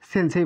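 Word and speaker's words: せんせい: এলের মতো সেন, সেই, সেনসেই। তাহলে এটির উচ্চারণ কি হবে?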